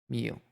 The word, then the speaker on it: Chimil: cast the Citadel or Chimil. Chimel? Chi? Meal. Meal. It's like double E sound, double E sound.